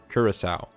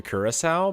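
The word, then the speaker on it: Curaçao: I need to learn how to pronounce that one. I always say Curacao, and that's not Curacao. Curacao.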